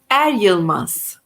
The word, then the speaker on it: Eryılmaz: bingham how do you say your last name adilmas arias yes so you can reach her at